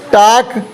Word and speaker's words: talk: टाक, TALK, टाक, L बोला ही नहीं।